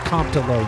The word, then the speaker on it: Comptalo: I'm pronouncing that right. It's Comptalo, right? Yeah, man, that is right. Comptalo.